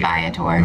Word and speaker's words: Viator: Some people say Viator. I said Viator. It's Viator. V-I-A-T-O-R, however you like Believe to pronounce me, that. Believe me, I call.